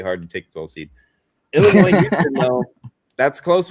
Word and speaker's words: Illinois: Not enough to pronounce their state right though, right? Illinois.